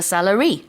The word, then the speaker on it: salary: So the money you receive is called a salary. Yes. Not celery or salad.